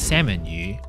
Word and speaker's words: 三文魚: Quizá te des cuenta que mis padres se refieren al salmón como “sāam màhn yùh”, que suena a la pronunciación de "salmon" en inglés.